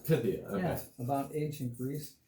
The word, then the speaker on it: Pythia: So this is the graphic novel that I bought for how's that pronounced? $7. Pythia. Pythia, okay.